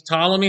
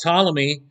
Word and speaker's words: Ptolemy: while he's there he helped ptolemy uh or solomy i think is how it's actually pronounced with the pt there i i don't know